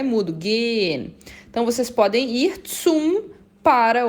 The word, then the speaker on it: gehen: Eu não falo gehen com esse H, eu falo, esse H é mudo, gehen.